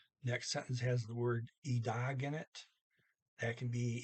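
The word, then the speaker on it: i dag: all in one word doesn't matter which way you do it still e dog either way um okay okay i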